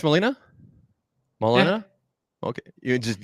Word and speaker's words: Molina: So, guys, Molina, is it pronounced Molina? Molina? Yeah. Okay. You just, okay. And if you want to do it Spanish, it's like Molina.